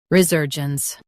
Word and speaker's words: resurgence: re ser gence resurgence Emphasize ser and keep gence smooth.